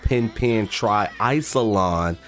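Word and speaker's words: Pen Pen TriIcelon: so I realized I've been saying the title of this game wrong looking up information about it I discovered that it's called pin pin Tri isolon so that actually makes sense I didn't know how to say it but anyways pin pin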